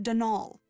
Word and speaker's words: Donal: the caretaker denial delaney not donald mind you there's no d at the end so it's pronounced denal that's the way you're